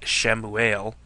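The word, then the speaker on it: שמואל: right and obviously Samuel from the Hebrew name pronounced shamuel meaning name of God or his name is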